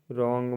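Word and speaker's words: wrong: मतलब कला हाथ डब्लू आर ओ एन जी रंग मतलब गलत यहां भी डब्लू साइलेंट ओ से पहले भी कुछ वर्ड में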